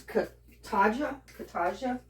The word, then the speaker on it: Cotija: It's hard to pronounce it. It's Cotija cheese.